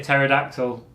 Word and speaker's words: pterodactyl: Why can't you hear a pterodactyl in the bathroom? Go on. Because the P is silent.